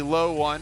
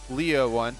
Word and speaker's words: Loe1: of a typo that should be low one loe one not leo one i promise yeah we'll